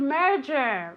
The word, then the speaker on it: merger: Merger. Merger. Very good. I can hear your pronunciation. This is a difficult word to pronounce because you have the J sound, okay?